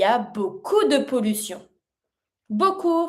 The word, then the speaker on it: beaucoup: Il y a beaucoup de pollution. Beaucoup, finishing with a P, mute.